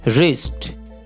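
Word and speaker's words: wrist: আর আই এস টি রিস্ট রিস্ট অর্থ হচ্ছে কবজি এখানে ডব্লিউ সাইলেন্ট থাকবে রিস্ট ডব্লিউ এ আই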